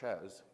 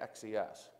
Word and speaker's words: XES: Now, there are people who pronounce that as a word, right, says, and when I work with my friendly customers in Brazil, their X has a different value, so they pronounce it Shez. But I never pronounce it that way. I always say XES, because every now and then I'm dyslexic.